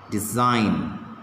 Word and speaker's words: design: silent answer re silent design g is silent knee k okay now